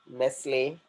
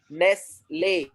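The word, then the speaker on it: Nestlé: the words that are ending with acute accent, and the sound will be something different. For example, cafe, cafe, Nestle, Nestle.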